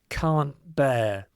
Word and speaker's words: can't bear: But often when you speak it in a natural way, the T is dropped because of this T and B. So when you pronounce it, it sounds like can't bear. There was a glottle stop here.